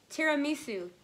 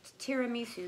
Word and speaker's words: tiramisu: tusu t t how do you say that tiramisu tiramisu that's right and it was $4.99 $4.99